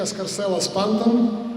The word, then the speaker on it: Scarcella-Spanton: I would like to praise Office of Borough President Antonio Reynoso, all my colleagues, Assemblyman Alec Bukrasny, State Senator Jessica Scarcella-Spanton, that's correct pronunciation, Office of Congressman Hakeem Jeffries, of course.